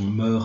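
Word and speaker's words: mœurs: ligature c'était les moeurs on préférera la prononciation moeurs hammers qui sont en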